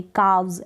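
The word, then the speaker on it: calves: काव्स, एल जो है silent रहेगा।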